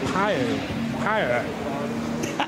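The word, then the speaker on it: Pijl: So it's pronounced, I think, something like Pio.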